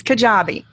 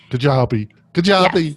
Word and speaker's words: Kajabi: then I apologise about the pronunciation of this Kajabi. We're looking at Kajabi first. Did I do a reasonable job pronouncing that? You did. It's Kajabi. Kajabi.